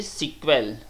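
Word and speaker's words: SQL: standard programming language okay pronounce इ सीक्वल pronunciation इ सीक्वल common for ल ल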